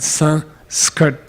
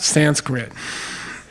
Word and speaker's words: Sanskrit: put it s between okay so it's called son skirt dumb Sanskrit them what's one meaning of Sanskrit